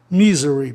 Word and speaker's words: misery: Misery, palavra propaloxítona, terminada em consoante Y, o I então muda para I. Misery.